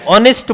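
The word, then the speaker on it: honest: तो इस वर्ड को भी बोला तो जाएगा जब ऑनेस्ट नहीं बोला जाएगा। क्या बोला जाएगा? ऑनेस्ट बोला जाएगा। क्या बोला जाएगा? ह इसमें क्या है? साइलेंट। यानी एच इसमें क्या है? साइलेंट। ठीक है? तो ह नहीं आएगा।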